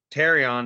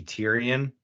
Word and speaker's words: Terion: on that off yeah so terion is probably the correct way to say it I just really want it to be Tyrion and if you're a